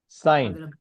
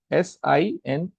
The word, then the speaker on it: sine: We have trigonometric functions right to how do the and they are first one is sign it's it's sign right s i n e in short we write it as s